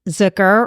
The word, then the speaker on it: Zucker: Today, we have a very special guest, Zucker, rhymes with hooker, correct?